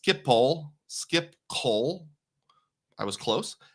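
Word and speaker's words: Schiphol: Yuri says it's pronounced Skipipole.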